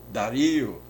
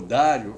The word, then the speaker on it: Dario: Mais tarde, o rei Dario, ou Dário, conforme a pronúncia, confirma o edito do rei Ciro.